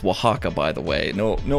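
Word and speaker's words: Oaxaca: is so this right here a waxa it's pronounced Waka by the way no no offense to anyone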